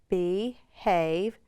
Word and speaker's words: behave: We'll draw an arrow from our E to our A to remind us that E is silent and it makes that vowel long.